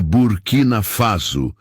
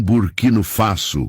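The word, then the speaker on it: Burkina Faso: É burquinafaso, não burquino faço, como o senhor pronunciou, corrigiu Traoré com um leve sorriso.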